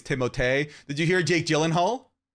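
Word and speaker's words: Timothée: F their names and Timothy shalam is timote did you hear Jake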